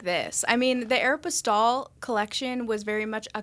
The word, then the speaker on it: Aéropostale: i'm saying said it correctly instead of like aeropostale yeah and i remember calling everyone being like